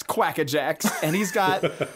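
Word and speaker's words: Quakka Jaxx: franchise so far uh it's quack-a-jacks pronounced or spelled q-u-a-k-k-a space j-a-x-x quack-a-jacks and he's got like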